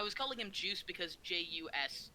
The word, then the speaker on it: jus: That word would be pronounced jus. Jus. It's like an actual thing. Yeah. Des Like the Jus. thing you get with like a French dip sandwich.